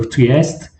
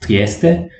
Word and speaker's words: Trieste: make up need for triassed actually let's not call me because i'm italian and i know that it's pronounced trieste and there's no reason for me to mispronounce trieste so let's correct uh